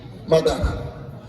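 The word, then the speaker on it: mother: করি আপনারা বুঝতে পারবেন এম ও টি এইচ ই আর কি হয় মতিয়ার যে কি হয় আসলে উচ্চারণটা মতিয়ার আমরা বলি কি মাদার মাদারে দেখলে এম এ লাগবে তাই না দেখেন বানানের সাথে উচ্চারণের মিল নাই তার মানে হলো জগা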